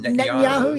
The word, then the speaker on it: Netanyahu: Benjamin Netanyahu.